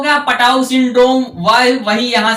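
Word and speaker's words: Patau: फिर आगे कह रहे हैं पा से क्या होगा, पाउट सिंड्रोम। क्या? पटाउ syndrome. पटाउ syndrome. और वही यहां है तो वही है साइलेंट।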